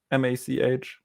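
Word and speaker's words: Mach: How do you pronounce it? M-A-C-H?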